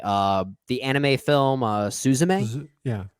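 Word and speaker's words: すずめ: the anime film uh susame yeah uh or suzumi I believe it's actually how it's pronounced I didn't love it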